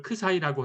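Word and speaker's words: ξ: 이 열린 구간 안에 K보다는 크고 C보다는 작은 어떤 수, 그걸 크 사이라고 할까요? 이거 크 사이입니다. 예, 그리스 문자 14번째 문자고요. 영어로 쓰면 크 사이 이렇게 쓰고요. 발음 기호는 크 사이 이렇게 읽으시면 되고요.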